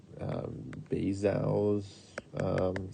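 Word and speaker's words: Bézout: in math called um pretty sure you pronounce his name like bazel's theorem um but basically this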